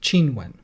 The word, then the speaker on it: Qinwen: But in Mandarin, her name would be pronounced Qinwen.